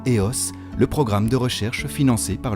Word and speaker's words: EOS: MIS (pronounced as "Miss"), Welbio, IISN; or EOS (pronounced éoss), the research programme financed by the FNRS and